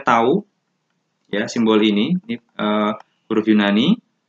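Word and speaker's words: τ: Nah, ini ya tadi simbolnya tau, ini dibacanya tau.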